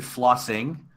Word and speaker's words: flossing: doing it that's not I pronounced it flossing but technically there's no G because it's flossing your teeth yes see that's like